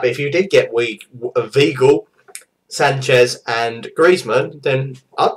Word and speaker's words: Weigl: It's Weigl, but starts with a V.